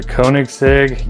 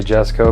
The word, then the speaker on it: Koenigsegg: here we go the koenigsegg yes co jessico however you prefer to say it i usually say jessico because i'm american and we mispronounce everything so that in a